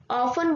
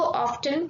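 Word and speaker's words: often: Schools होते हैं उसमें ऑफन बोलना स्टार्ट कर दिया है। अगर कोई ऑफ्टन बोलता है तो लोग सोचते हैं कि उसका प्रोनाउंसिएशन गलत है, बट इसको ऑफ्टन बोल सकते हैं हम।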